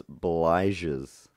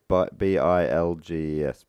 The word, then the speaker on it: bilges: to collect flammable aviation gasoline vapors in its bliges. Bliges. Bligs. How do you spell that? B-L-I-G-E-S. No. B-I-L-G-E-S.